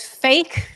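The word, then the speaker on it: PHEIC: in also when you pronounce it it's it pronounces as fake it was a fake I hadn't come up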